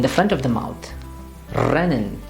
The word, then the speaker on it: rennen: For example, in this word, which is rennen, they will try to pronounce it as rennen.